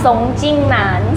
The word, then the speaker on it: Song Jingnan: Song Jingnan.